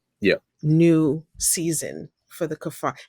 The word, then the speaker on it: Kaphar: new season for the kafar? Am I pronouncing your last name correctly? Kafar. Yeah, that's right.